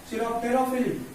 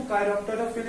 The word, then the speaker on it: chiropterophily: अब आगे बात चिरोप्टेरोफिली, है ना, इसको काइरोप्टेरोफिली भी पढ़ते हैं, है ना, प्रोनाउंसिएशन की बात है क्या करोगे।